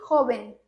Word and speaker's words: joven: E joven. Joven, que tem o V, que é esse B. Joven. Bem suave. Esse B bem suave, tá?